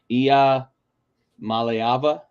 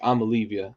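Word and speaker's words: Iamaleava: There's some interesting ones in the Nico Amalivia is, how did they say it's Ia Maleava? I believe it's like the think so, proper yeah. pronunciation, but it's Amalivia on this show.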